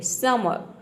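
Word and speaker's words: summer: है क्या करते हैं आर को प्रोनाउंस नहीं करते हैं यानी कि आपको क्या करना है आर को यहां पे आप मान लीजिए कि जो ई आर है इस केवल अ अ प्रोनाउंस करना है र प्रोनाउंस नहीं करना है आधा र का जो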